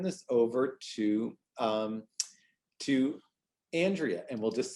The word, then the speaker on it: Andrea: um i just have to say it is pronounced andrea i know it's spelled like andrea but um